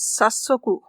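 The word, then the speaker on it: 早速: It also has the same kunyomi hayai, but with sa, its first syllable becomes stressed. So the word is sasoku.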